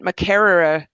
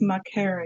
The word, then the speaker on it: Makerere: your undergraduate degree at mccerara I'm probably saying it wrong university in Uganda say it properly for me it's Mara University so There we go. McCre University in Uganda.